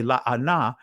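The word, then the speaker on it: לענה: were made bitter and when I say la Anna this is from the ancient Hebrew perspective pronunciation so the Russians the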